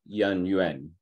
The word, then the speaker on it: Yan Yuan: Both are actually correct. No, Yan Hui or Yan Yuan. Both were correct.